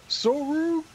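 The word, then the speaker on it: ソウルキャリバー: Sorukiabura Suri. Sorukiabura. Why is this so hard to me? Why is this guy so hard? I don't even understand. Sorukiabura Suri.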